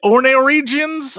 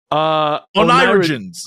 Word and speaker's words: oneirogens: I haven't had much or any luck with, how do you say, ornithorigins? You've been saying it all day. Oneirogens. Oneirogens.